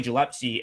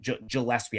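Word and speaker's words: Gillispie: Like Billy Gilpsy and his guards play really Gillespie, I always say his name wrong, too.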